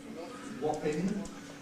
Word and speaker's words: Wapping: Notice that he pronounces it Wapping, alveolar nasal at the end.